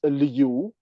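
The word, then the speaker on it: 刘: of the same family, which family name is Liu, L-I-U, pronounced at the second tone.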